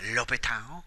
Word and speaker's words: l'Hôpital: It's French. We need to say it French, l'hôpital. If we don't say l'hôpital, then we're not saying it right.